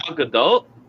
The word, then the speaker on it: Gadot: She's hotter than Gal Gadot? I don't think so. Gal Gadot. Gadot. We're doing Gadot now.